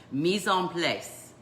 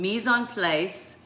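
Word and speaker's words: mise en place: you want to learn something new I'll probably pronounce it incorrectly but it's a French phrase called me zone place and meson place what that means is pre measuring and setting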